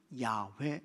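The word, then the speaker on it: 야훼: 뭐냐 여호와 입니다 그리고 본래의 히브리 발음으로는 야외 라고 하는 것입니다 하나님께서 모세를 부르셨습니다 애굽에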